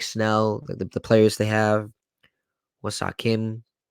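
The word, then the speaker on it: Ha-seong Kim: the players they have, Wasa Kim, if I say his name right. Yeah, Um, Baseon Kim. I did say it. Yeah, Okay, good. you got it.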